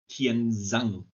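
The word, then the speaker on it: Kiên Giang: Like the letter D is pronounced as a soft Z, and the Oh, same goes for really? the same goes for the combination GI. So you have some provinces that are called, for example, Kienzang, and it says on the map Kiengiang.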